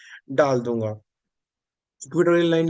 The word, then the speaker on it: equatorial: इक्वेटोरियल line के ऊपर चलते हैं, बिल्कुल सिमिलर है इक्वेटोरियल लाइन भी। इक्वी वैसे इसको इक्वाटोरियल बोलना चाहिए, I don't know why इट is called इक्वेटोरियल। हम इंडियंस अपने अकॉर्डिंग थोड़ी सी अपनी प्रोनाउंसिएशन बना लेते हैं।